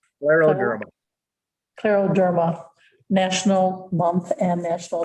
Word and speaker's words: scleroderma: Scleroderma. Scleroderma. Scleroderma.